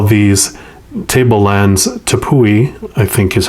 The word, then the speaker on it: tepui: Some indigenous groups call these tablelands Tepui, I think is how you say it. I probably murdered it. It's Tepui, which means house of the gods.